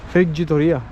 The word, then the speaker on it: friggitoria: Comment ça se prononce ? Friggitoria. Ah, friggitoria.